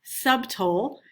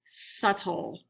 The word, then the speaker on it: subtle: light subtle smell subtle the b in this word boys and girls is silent so you don't want to say the b you don't want to say subtle it's subtle and last we have